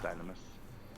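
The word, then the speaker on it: Dynamis: eyes to their suffering it's been established it's pronounced dynamous your deeds may have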